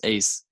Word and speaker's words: AESS: environmental studies and sciences abbreviated to aess pronounced as ace is an organization that